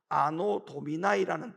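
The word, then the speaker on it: Anno Domini: BC라고 하는 이 말은 Before Christ, 다시 말하면 예수님이 오시기 전이라는 뜻을 가지고 있고, 이 AD라고 하는 것은 라틴어의 약자로 아노 도미나이라는 뜻을 갖고 있죠.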